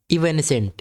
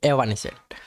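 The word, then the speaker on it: evanescent: आगे बढ़ते हैं, इवेनिसेंट, इवेनिसेंट, इवानिसेंट उसे बोलते हैं, इसे एवानिसेंट। आप प्रोनाउंसिएशन इसका सही देखोगे तो ऐसे बोलते हैं, एवानिसेंट।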